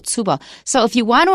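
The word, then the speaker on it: tsubo: word ping comes from Japanese and the Japanese pronunciation of ping is tubo TS u b o tubo so if you want to avoid Chinese you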